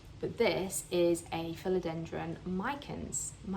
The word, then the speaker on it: micans: But this is a philodendron micans, I think Americans say micans.